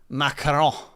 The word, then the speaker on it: macaron: I think to pronounce it correctly, you need to say macaron.